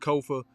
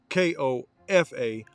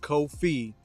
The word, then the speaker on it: Kofa: I am your host, Kofa, K-O-F-A, not coffee, not kufu, not Kofi, Kofa. Kofa rhymes with sofa.